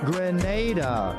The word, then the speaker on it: Grenada: So today, like we Germans say, we are in Grenada. But I heard in English it's called Grenada. Say it right. Grenada.